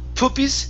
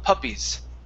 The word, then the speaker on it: puppies: Instead of poopies, it's p- puppies.